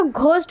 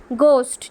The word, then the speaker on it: ghost: দিন সন্ধেবেলা, আ গোস্ট, কেউ কিন্তু এটাকে ঘোস্ট উচ্চারণ করবে না, গোস্ট, ঠিক আছে, একটা ভূত,